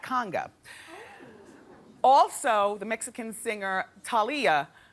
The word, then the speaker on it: Thalia: Also, the Mexican singer Talia Thalia, how do you say her name? Talia.